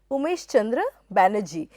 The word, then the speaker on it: Womesh Chandra Bonnerjee: He was from Bengal and his name was pronounced in an Indian way, it would be Umesh Chandra Banerjee, but he obviously liked his name to be pronounced with in an anglicized fashion.